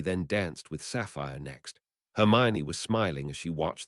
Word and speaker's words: Hermione: Your name is Hermmon. Actually, it's pronounced Hermione in your name.